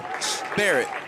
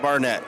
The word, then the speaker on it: Barrett: It's going to be uh Barrett, not Barnett.